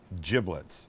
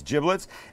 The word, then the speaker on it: giblets: little bag this this is the bag of giblets and that's how it's pronounced not giblets it's giblets and in here would be liver would be